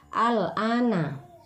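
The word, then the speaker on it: آلْآنَ: Contohnya pada lafaz al-ana. Nah, al-ana. Jadi huruf a-nya itu panjang, memiliki harokat fathah berdiri, bertemu dengan huruf lam yang berharokat sukun. Nah, jadi cara membacanya dipanjangkan 3 alif atau 6 harokat.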